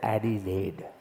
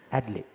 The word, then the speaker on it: Adelaide: See, they don't pronounce vowels there, so you cannot say 'A-dee-laide'. Adelaide. The 'e' is silent, they don't say the vowels.